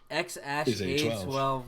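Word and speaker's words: X Æ A-12: This symbol is pronounced Ash. And A12. Yeah. X-Ash A12 Musk.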